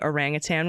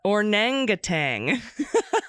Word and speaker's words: orangutan: friend group for mispronunciations I tried saying orangutan one night and it came out uh orangatang that's great there you